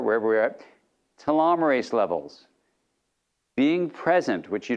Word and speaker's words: telomerase: Telomere ACE, pronounced telomerase, is an enzyme that repairs and maintains the ends of your chromosomes.